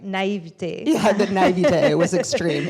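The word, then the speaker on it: naïveté: as a French person, I should say it right, naivete.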